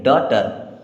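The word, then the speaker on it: daughter: read क्या पढ़ेंगे read D ए यू जी एच टीई आर अब यहां पे जी एच हो जाएगा साइलेंट क्या हो जाएगा साइलेंट और इसे पढ़ेंगे डॉटर बच्चों आज की वीडियो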